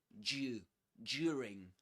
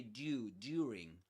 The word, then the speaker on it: during: Nowadays in British English, you will usually hear due during during there in in received pronunciation in the past usually although the people that still speak with that accent, they will usually say due during during during. But nowadays you will usually hear due during during during the interview.